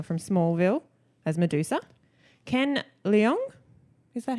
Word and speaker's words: Leung: you may know from Smallville, as Medusa, Ken Leung, is that how you say his name? Yeah. Sorry, Ken. Long.